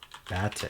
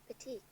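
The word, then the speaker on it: batik: Batic. Am I saying that right? Batique. Batique.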